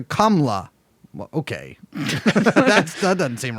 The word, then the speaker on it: Kamala: Instead, it's more subtle, closer to Kamla.